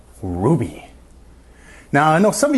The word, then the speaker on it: RWBY: Today we're going to be talking about a relatively new show, RWB Y, or it's phonetically pronounced, Ruby.